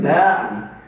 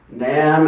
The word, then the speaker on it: Nam: He said, I was always guilty of not being with you guys in NAM. Is that how you say it? NAM as in spam, as in thank you, ma'am?